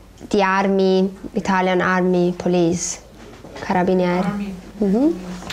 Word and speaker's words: carabinieri: Carabiniere, se sì, no, proprio polizia, di armi, Italian Army, police, carabinieri.